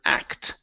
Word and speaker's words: act: your last one is the word act okay make sure to pronounce that t here okay whose Act